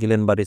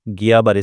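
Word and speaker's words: Guillain-Barré: आपण बघूयात जीबीएस किंवा गिलेनबारी सिंड्रोम ऍक्च्युली याचा उच्चार गियाबारी सिंड्रोम असा होतो परंतु स्पेलिंग नुसार आपण त्याला गिलेनबारी सिंड्रोम म्हणतात सो या आजारामध्ये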